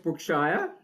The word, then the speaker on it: Brookshire: And Brookshire, Shire or Shear? Shire. Correct me, Shire. Okay, the correct pronunciation. So Brookshire.